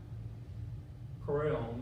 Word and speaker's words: Kroell: This is Kroell, that's the way we pronounce it.